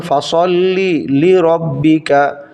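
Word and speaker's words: فَصَلِّ لِرَبِّكَ: শব্দের সাথে মিশিয়ে দেয়া মিশিয়ে দেওয়া হলো সঠিক উচ্চারণটা হবে ফাসল্লি লি রব্বিকা ফাসল্লি রববিকা জবর ফা সদ গিয়ে লাম ধরবে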